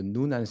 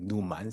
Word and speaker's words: Noonan: been mostly working on the nunan syndrome but even actually my previous mentor even pronounce it like numan syndrome so I have to correct him every time so but here I